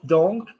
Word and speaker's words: donc: Should it sound like an English person speaking vibrationally, or do you need to up the vibration? Donk, more nasal, donk. Donc, More, no, it still sounds English. Donk, do me nasal, like a clown. Say donk. There we go. Yeah, it's got to vibrate.